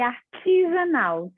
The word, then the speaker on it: Arteasanal: Eu gosto que pronuncie artesanal, ti de chá, Ah, né?